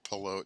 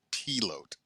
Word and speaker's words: Pelote: I'm Pelote, and I, the northern branch of the family pronounces it Pelote, but the southern branch pronounces it Pelote. Don't ask me why.